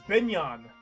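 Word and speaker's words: Begnion: It's Binyan. Yeah, okay, it's Binyan. So yeah, it's like beignet.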